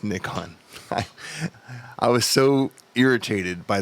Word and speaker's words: Nikon: That's how you pronounce Nikon. It's not Nikon. It's Nikon.